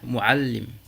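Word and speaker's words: معلم: On dira sukkar, tafaddal, muallim.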